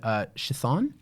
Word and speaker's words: Chthon: Well, then we've officially given the pronunciation for it. It's Chthon.